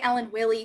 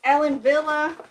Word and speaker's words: Ellen Wille: me um I say Ellen Willie cuz I see no V yeah it's German Kim that's that's why yeah it's Ellen Villa because that's how W's are pronounced in German um says do you